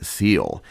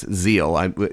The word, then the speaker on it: Seel: bass arioso, Betracht mein Seel." And so, I pronounced the German wrong, it's Seel, S's are Z's.